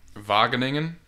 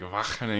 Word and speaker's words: Wageningen: I went to Wageningen, or however the G's they pronounce in Dutch are a little strange. It's like a kind of thing. So it's like Wageningen.